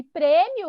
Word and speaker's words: prêmio: Qual que é a sílaba mais forte em prêmio? Aqui, ó, da H. Pre. O que tem acento. O pre. E nem pensar. Se tem acento, a gente nem pensa. É a mais forte.